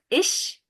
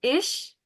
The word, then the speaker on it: ich: It starts with ish and then come, very similar to, let me just give you. So, ish, Is uh-huh. come. Komme with an E at the end.